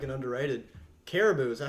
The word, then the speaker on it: Caribou: Caribou.